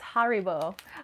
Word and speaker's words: Haribo: um let's see lady night said uh it's haribo oh okay haribo sorry i actually never knew the correct pronunciation but thank you um this is when